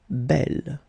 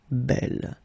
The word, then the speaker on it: bel: masculine form will be belle. Okay, and the feminine form belle. So it's actually quite interesting because these two forms, so the second masculine form and the feminine form, are phonetically the same.